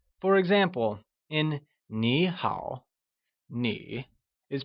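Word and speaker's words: 你好: tone (3rd) Greetings Hello Nǐ hǎo Grammar tip!Note that, whenever we have two third tones, the first third tone is pronounced as a second tone For example in Nǐ hǎo, Nǐ is pronounced using the second tone!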